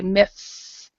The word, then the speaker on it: myths: so we would say myths and this is actually quite difficult but you have the th goes out of your mouth myths my and the same as youth